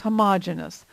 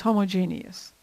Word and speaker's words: homogeneous: Homogeneous mixtures, sometimes called homogeneous, but I believe the more common pronunciation is homogeneous.